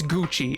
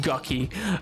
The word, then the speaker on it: Gucci: whole house spicy it's it's Gucci it's not perfect pronounced gucky it gucky is not how that word is pronounced pink and I refuse